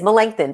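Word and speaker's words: Melancthon: it's different it's a different name it is melanchthon but I think I got it now and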